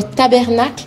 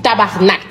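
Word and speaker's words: tabarnak: respecter le mot hein c'est pas tabernacle c'est tabarnac tabernac tabernac non tabarnac ah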